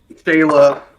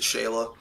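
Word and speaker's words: Schala: Or Scala or whatever. Scala. I always pronounced it Shayla.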